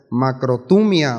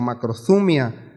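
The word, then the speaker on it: μακροθυμία: texto original en griego es macrotumia o macrozumia, como lo quiera pronunciar, y es un sinónimo, escuche bien, de longanimidad, que es perseverancia, paciencia, firmeza, resistencia.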